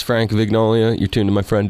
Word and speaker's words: Vignola: Vignola. All right, I'll make sure I pronounce that right. Vignola. My apologies. I was saying Vignolia.